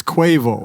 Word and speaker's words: Quavo: Oh, it is Yeah, Quavo? it's Quavo. That's why I asked you to That was- pronounce it.